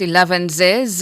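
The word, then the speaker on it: elevenses: eles eles your word of the day is pronounced eles it's a noun and it simply means a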